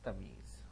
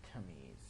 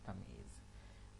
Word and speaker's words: Tamyeez: Better get the pronunciation right. It's Tamyeez, not Tamyeez. It's Tamyeez.